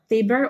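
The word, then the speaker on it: Taber: Saka, during summertime, mayroong corn na tinatawag nilang tuber or tuber. Tuber ata pag pronounce yon, pero T-A-B-E-R.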